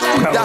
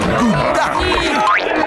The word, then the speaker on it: Gouda: Et oui, ça se prononce Aouda, pas Gouda.